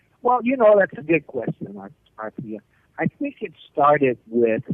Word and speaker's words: Arthia: Arthia? Arthia, actually. Arthia. Arthia, like Arthur.